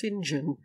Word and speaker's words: St John: were executed they're hesitant saint john was for some explicit reason pronounced sinjin yep for saint john